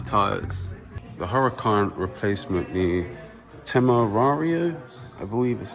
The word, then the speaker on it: Temerario: The Huracan replacement, the Temerario, I believe is how it's pronounced.